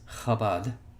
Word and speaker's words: Chabad: I don't want to nitpick, but it's actually pronounced Chabad for future reference.